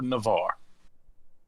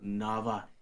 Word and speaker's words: Nava: is it for navarre it's nava you have to read it's yeah yeah yeah it is it is nava you're kind of saying it wrong you're kind of emphasizing the last a it's kind of narva no sorry okay sorry